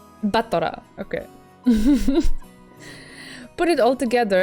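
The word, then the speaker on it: 戦人: And it's pronounced Battler? I don't know. Should I read it Batora from now on? Because I can do it if you want me to. It's a bit weird for me.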